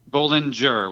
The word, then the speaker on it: Bollinger: a question for you is it bowling with a hard G or bowling Jer with a softer G Bolinger with a softer Binger now we know okay